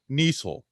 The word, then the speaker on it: Niesel: I'm thankful for Kenneth Niesel. His last name rhymes with Diesel, and I'm thankful for him.